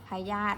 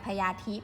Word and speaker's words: พยาธิ: ค่ะ ใคร ญาติ พระยาธิ เวลา เขียน แต่ เวลา อ่าน ว่า อะไร พยาธิ นะ ใคร อ่าน พญาทิพย์ ผิด นะ คะ พอ อะ คะ